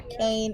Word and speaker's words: Kaighn: Kaign is with me. A nice simple name like Kane, and I said, how do you do that one?